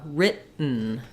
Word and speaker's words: written: and a syllabic n so in American English we don't say written we don't have a puff of air not an aspirated T there and there's no vowel before the N sound so British English written it was written American English it sounds more like uh written so I make that